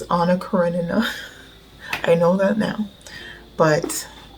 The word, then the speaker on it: Anna Karenina: got Wuthering Heights, and I pronounced it, I think, Anna Karenina. I'm sorry, Leo Tolstoy, I kind of butchered one of your life's work. It's Anna Karenina.